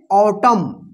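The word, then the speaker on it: autumn: यहां पे लास्ट में एम के बाद क्या है एन है ना तो यहां पे क्या होगा एन जो है साइलेंट रहेगा यानी एन का उच्चारण नहीं होगा ठीक है ना तो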